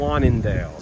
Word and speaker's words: Zwaanendael: Zwaanendael.